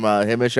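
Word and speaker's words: Himesh: I thought the leading performance, I look forward to seeing more from Himish, I believe is how you pronounce it. Yeah, Himish I thought he Patel, was really good here.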